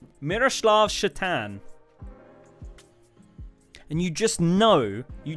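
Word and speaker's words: Šatan: can pronounce that uh his surname was s a t a n sat a t a n what does that spell kids that's right chatan guy's surname was Satan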